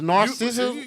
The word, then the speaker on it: narcissism: You leaving out a whole fucking syllable. So it's narcissism.